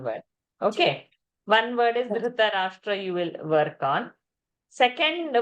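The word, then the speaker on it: धृतराष्ट्र: Say Dhritarashtra power. Dhritarashtra That you give little power. R. So this is one word. Okay. One word is Dhritarashtra you will work on.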